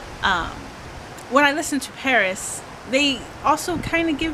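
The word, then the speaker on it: PVRIS: it too well but the next band is called paris but it's spelled pv ris um now i don't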